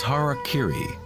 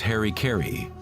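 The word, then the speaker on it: hara-kiri: In the samurai tradition, one form of ritual suicide or sapuku was hariri was often mispronounced as Harry Kerry.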